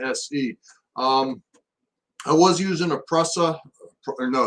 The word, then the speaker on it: Prusa: I was using a Prusa, or no, it's a Prusa clone. Prusa, or I even heard it pronounced as Prusia, P-R-U-S-I-A.